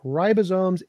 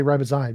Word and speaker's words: Ribosome: Ribosomes evolved after RNA was already there. Ribosomes. What? Ribosome is spelled R-I-B-O-S-O-M-E. Ribosome. I know how that's spelled. Okay, so... And why did you say ribozyme?